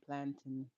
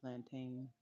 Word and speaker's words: plantain: I heard somebody say plantin. I've always called it plantain. This weird we bananas. But uh yeah, I've called it plantain forever and uh yes.